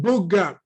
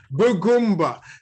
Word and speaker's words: Bugumb: How do you pronounce it again? Bugumb. Bugumb.